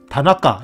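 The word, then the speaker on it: 田中: 그런데 덴주라고 읽지 않고 다. 저기 다. 이게 다가 그거거든요. 그 뜻으로 읽는 겁니다. 뜻으로. 그다음에 이거는 나까. 나까 가운데, 그죠? 가운데, 그죠? 가운데 나까라고 씁니다, 그렇죠? 나까, 나까. 그래서 다나까 이렇게 읽거든요, 그렇죠? 다나까 이렇게 읽어요.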